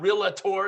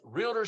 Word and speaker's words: Realtor: our real realtor lead I know I put an extra syllable in there don't don't make fun of me it's not real a tour it's realtor lead generation Mastermind and